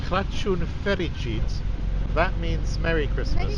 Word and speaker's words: Crăciun fericit: Yes, Now I think that's I'm right in saying Crăciun fericit. That means Merry Christmas. Merry Christmas. Yes. Crăciun yes. fericit. Crăciun fericit. How is my pronunciation? Is it Very okay? good. Very good. Impressive.